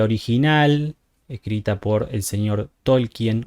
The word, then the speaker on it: Tolkien: escrita por el señor Tolkien o Tolkin, como sería la pronunciación original oficial en inglés, pero es suena mal, digamos. Es mejor decirle Tolkien.